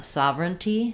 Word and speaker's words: sovereignty: word uh sovereignty sovereignty i would say three syllables um we do have sovereign or sovereign i think you could probably do either for sovereign um but americans will typically reduce there so they would do sovereign sovereignty because it's not stressed in there so those unstressed syllables